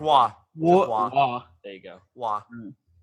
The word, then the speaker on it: Roy: Patrick makes a- Waugh.